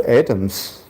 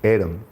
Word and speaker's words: atom: death the amount of atoms that we carry in our entire physical Temple called as body those atoms are atom pronounced in the UK English Adam pronounced in the U.S English those atoms are really